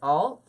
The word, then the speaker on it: awl: I always say owl. I said it right, awl.